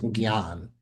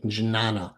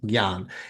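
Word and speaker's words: jñāna: you the best pronunciation janana. Um, but actually that ah is extra and the sound is more of a g. So in India they really corrected me this gan it means wisdom.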